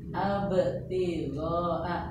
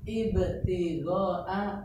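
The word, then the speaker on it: ابتداء: Abtidoa salah. Ibtidoa betul, ubtidoa salah.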